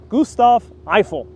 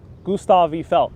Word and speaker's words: Gustave Eiffel: Pardon my French. Gustave Eiffel, I'm pronouncing it in English.